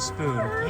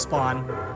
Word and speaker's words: スポーン: offered it to us, it was translated to spoon. There's no official translation, but if you watch any of like the official Bandai Namco videos, the pronunciation they use is spawn. So, can only assume it's spawn.